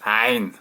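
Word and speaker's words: ع: Le numéro 3, ça correspond à la lettre qui s'appelle Ain, qui se prononce Ain. C'est une des lettres les plus difficiles à prononcer pour un français.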